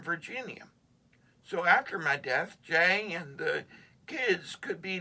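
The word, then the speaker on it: Jai: Jay, pronounced Jay, had always been my cheerleader.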